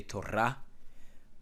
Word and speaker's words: Torah: which to stress falls in Hebrew as a general rule the last syllable so if I say Torah the stress lays on the last syllable rah okay Tora that's usually